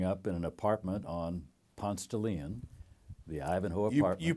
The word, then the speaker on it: Ponce de Leon: of Atlanta growing up in an apartment on Ponce de Leon the Ivanhoe you pronounce it correct yeah you pronounce it like